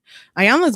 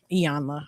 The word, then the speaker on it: Iyanla: Ayanla's book is amazing. Iyanla, I have to remember to say her name right.